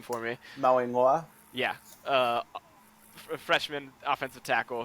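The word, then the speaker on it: Mauigoa: Steve, can you pronounce the last name for me? Mawingwa.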